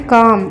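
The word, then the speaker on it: calm: Be confident and काम। आत्मविश्वासी और शांत रहो। बी कॉन्फिडेंट एंड काम। यहां सी ए एल एम है। जिसे काम पढ़ते हैं। एल साइलेंट होता है।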